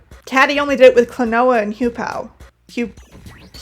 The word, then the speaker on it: Klonoa: joke with, but Caddyy only did it with Clenoa and Hupow. Hu. Clenoa is I know Clenoa is pronounced Clenoa.